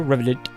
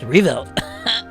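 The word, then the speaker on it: Rieveldt: Riveted. And yes, sir. I'm Captain Revelt of the RMP. Oh, it's Revelt. I butchered it.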